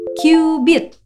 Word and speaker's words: cubit: sebagai istilah 1 cubit tulisannya sih cubit tapi bukan cubit-cubitan ya bacanya kyubit dan sekitar 4000 tahun